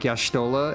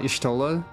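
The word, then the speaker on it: Y'shtola: was the original intent like yashtola and not istola but sucro is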